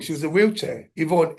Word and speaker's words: Ifon: Yvonne. Her name is spelled IFON. You know the Welsh.